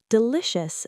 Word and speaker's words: delicious: Delicious. The ci is a shh sound. Delicious. Stress the middle syllable.